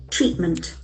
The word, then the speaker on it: treatment: That has got beautiful pronunciation has got two syllables. Treatment.